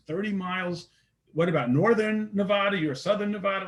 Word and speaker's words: Nevada: Is it Nevada or Nevada? Tomato.